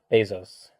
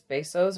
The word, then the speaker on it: Bezos: pronounce it right correctly it is Bezos or Bezos this Spanish pronunciation is Bezos but the American pronunciation pronunciation which is a mangled version of the Spanish is Bezos so I hear a lot of people saying Bezos and B's O's none of those are correct it's Bezos so anyway so my